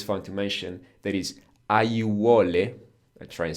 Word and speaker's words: aiuole: but it's just an example that when we have four vowels, A, I, U, O, close together, we just pronounce each and every one of them. Aiuole.